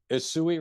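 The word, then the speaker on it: Usui: and so you're you're practicing uh you're practicing Ursa Reiki I don't know if I pronounced it correctly well it'd be isui Reiki was the first Reiki that I studied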